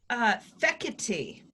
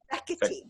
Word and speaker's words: Fekete: Fekete. Fekete. There's a winner. Is that right? That like Italian? It's Hungarian. Hungarian.